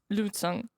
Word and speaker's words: lutin: France it will be Lutin. lutin. Yes. As I said, many letters. Not all of them are pronounced lutin.